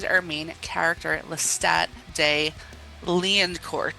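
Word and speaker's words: Lioncourt: main character, Lestat de Liancourt. Spelled like Lion Court, but that's not how you say it because it's French and very fancy.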